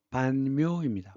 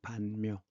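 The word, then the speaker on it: Văn Miếu: 이걸 줄여서 문묘라고 하는데 이게 베트남 발음으로는 반묘입니다. 반묘. 음이 비슷한 게 되게 많아요.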